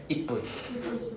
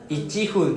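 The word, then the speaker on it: いっぷん: In one breath, ippun. Ichihun, then it's like, wow, you take 2 breaths, you have to go up and down. Right? Ippun is just literally very easy to pronounce.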